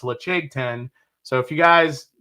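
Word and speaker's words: Laphroaig: so if you guys are a fan of leche 10 leche 10 year please go get it it looks like ledge 10 led aig but it's pronounced leche 10 so if you guys have yet to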